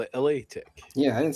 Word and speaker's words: La Tech: LA Tech. Gang. He called it LA Tech.